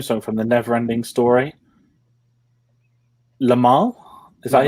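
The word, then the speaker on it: Limahl: Lamal? Is that how you pronounce it?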